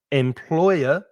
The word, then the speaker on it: employer: Employer, 3 syllables, the stress is in the middle, employer.